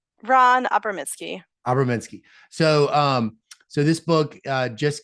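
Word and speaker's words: Abramitzky: Well, can you tell me how to pronounce Ron Abramsky's full name? I don't think I said it right. Ron Abramitsky.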